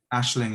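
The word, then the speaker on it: Aisling: how is that spelled ashling is a ing so you say it like ash ash but it's ais yeah so it's it's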